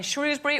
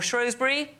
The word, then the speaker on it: Shrewsbury: Here we are in Shrewsbury or Shrosbury. Yes, depending on how you say it has been informed.